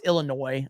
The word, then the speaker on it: Illinois: As a resident of Illinois, the S in Illinois is silent, bro. I know that. I know it's Illinois.